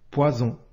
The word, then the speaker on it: poison: S se prononce ze par exemple poison ici la lettre S se prononce ze elle est située entre deux voyelles si tu ne veux